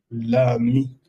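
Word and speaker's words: amie: También la amiga, agregamos solamente E final que no se pronuncia, sería l'ami. L'ami tiene la misma pronunciación.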